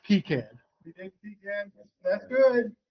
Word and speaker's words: KiCad: I can state the correct way because I looked up a video by the project manager of the project, and he pronounced KiCad.